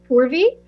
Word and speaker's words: Purvi: And I'll just reiterate that my name is pronounced Purvi.